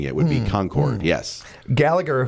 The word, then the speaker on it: Concord: So obviously it's Concord, because that's the phonetic way of saying it, would be Concord, yes. Gallagher, whose preferred pronunciation resembles the word conquered, ran into some opposition